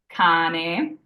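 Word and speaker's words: cane: or U it's a hard C sound like King in English for example Kan we have a c followed by an a here so it's a hard c k means dog once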